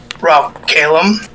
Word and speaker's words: Ralkalam: this uh this world it's called rock calum or that's how i pronounce it anyway if it has out